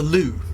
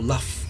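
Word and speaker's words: Lugh: was the the battle for lou or luff or lou i'm not quite sure where you pronounce it i'm going to go with lou actually l-u-g-h so that is probably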